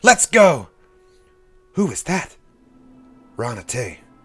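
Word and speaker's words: Raana Tey: Ranate. Rhymes with run away.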